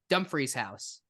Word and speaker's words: Dumfries House: Dumfries House, but I pronounced it properly.